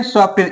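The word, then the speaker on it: soften: से करें तो देखिए यहां पर हर जगह ना टी क्या है साइलेंट है देखिए रूल क्या है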